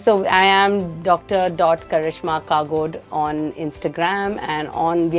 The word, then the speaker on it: Kagodu: one the it's written and the way it's pronounced so it's Dr Karishma kagod so kagod is a village close to sagur